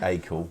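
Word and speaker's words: Acle: looking this in norfolk it's spelt a-c-l-e and it is pronounced by most people is it is that the norfolk way yeah where you're done all right i'll say a cool because that's the way i was brought up when i went to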